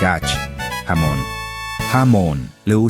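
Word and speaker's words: jamón: H is silent. Huevos. Huevos. Ye sounds like ach, jamon.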